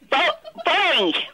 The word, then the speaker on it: Boeing: Think of bow. So you've got bow as the first syllable. Yeah, go on. Right. Now, the second word syllable is, think of ding without the D. Boing.